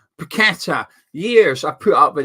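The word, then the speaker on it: Paquetá: for your players but West Ham ones come up petta not paketa petta years I put up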